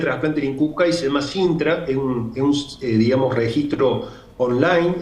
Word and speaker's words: SINTRA: Digamos, el sistema que tiene de registro de actividad de trasplante en INCUCAI se llama Sintra, es un digamos, registro online, en tiempo real,